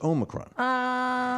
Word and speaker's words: omicron: o you're hearing omicron dr oz even strangely enough mispronounced it no it's omicron it's the if you've got to do if you do the greek alphabet do the greek alphabet